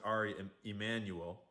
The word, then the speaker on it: Ari Emanuel: But, I guess his name is probably pronounced Ari Emanuel, because it's Jewish, not Mexican.